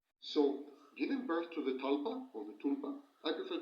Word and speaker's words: tulpa: So giving birth to the talpa or the tulpa I prefer to call it tulpa although the correct pronunciation is talpa I call it tulpa because in in original Tibetan it's closer to original Tibeta.